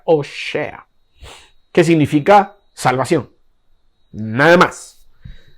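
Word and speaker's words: הושע: Pasado al hebreo, Oseas es Oshea. Sí, se pronuncia de esa manera, Oshea.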